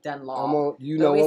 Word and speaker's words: Dunlop: So Dunlop, I know that's the way you're supposed to pronounce it, Dunlop. You know but we what I'm say talking about. Dunlap.